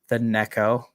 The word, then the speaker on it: NEKO: Tonight, it's kind of all about the NEKO pre-sale starting, which is a while from now, but still a fun topic. Yeah, we had a big discussion in the Telegram about how to pronounce NEKO. Like gecko.